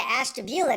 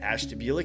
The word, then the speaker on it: Ashtabula: We're going to Ashtabula, Nick.